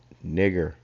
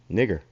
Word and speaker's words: Niger: Simeon, that was called nigger. Okay, in modern day terms they'll put 2 G's, but that's the way it's pronounced, nigger.